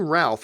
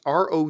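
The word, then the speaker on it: Routh: like to see Brandon Ralph I think you mean it's pronounced it ro you th so Brandon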